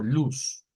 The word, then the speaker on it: luz: olvidarnos de esto y pronunciarla así como está ahí como luz pero con ese luz no no vibrante no luz sino luz luz y pues significaría